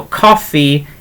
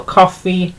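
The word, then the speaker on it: coffi: It is spelt differently, but pronounced exactly the same. So coffee is coffee.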